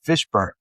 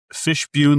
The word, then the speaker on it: Fishbune: ma name of Fishburn. thank you for coming on. Thank you. Did I say your name? Fishbune. How do you say your last name? Fishbune. Like tribune.